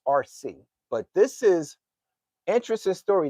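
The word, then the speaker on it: Arcee: And I know RC, they spell it, it's pronounced RC, but it's A R C E.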